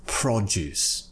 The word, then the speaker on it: produce: pronunciation the first word the noun produce we're pronouncing it with the first syllable being stressed FRA we're giving it more emphasis produce right prot is has